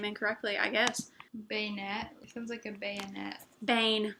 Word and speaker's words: Banette: and they actually said the correct pronunciation was beignet they had a big discussion on with her it was Banette or beignet and it's